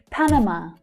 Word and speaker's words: Panama: Panama. Panama. Panama. The first and the last syllables there are quite strong.